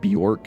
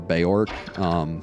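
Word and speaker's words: Beorc: Originally, I know when I first saw the game, I pronounced it Bjork instead of Beork, just because I didn't realize.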